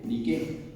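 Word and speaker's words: Νίκη: la palabra Nike exactamente viene del griego y no se pronuncian nada se pronuncian de qué así así como está escrito ni que niquef pero el acento la e ni qué y la palabra ni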